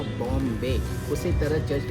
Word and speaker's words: Bom: Church का नाम है पुर्तगाली भाषा में बॉम जीसस। इंग्लिश में इसका स्पेलिंग इस तरह होता है BOM।